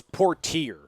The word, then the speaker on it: Portier: By the way, it's Portier. Portier? Yeah, and you're Sidney right. Portier, that's it. It's spelled the same as the actor.